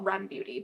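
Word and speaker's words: r.e.m. beauty: E.M but sometimes people call it REM Beauty but I think it's Aran Beauty but these are the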